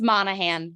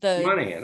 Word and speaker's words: Monahan: Hi, it's Monahan. Monahan. Okay, good. The G is silent.